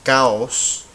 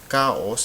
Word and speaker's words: caos: those rules because we have this word is pronounced caos caos and we count from the back so this